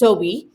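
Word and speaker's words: sowei: This fiber that they wear is meant to look like sowi, it's spelled S-O-W-E-I, and it's pronounced sowi. And the sowi is the water spirit.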